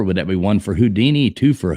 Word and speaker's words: Houdin: that be one for Houdini two for hudin three for foster four for Copperfield like why you put hudin in there I think that's actually pronounced houdin houdin sorry that's probably the answer